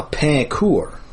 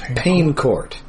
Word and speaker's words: Pain Court: uh French Canadian village near my hometown uh Pur, which is not pronounced pain court.